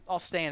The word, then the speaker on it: Alstyne: Alstain, if you're going to pronounce it.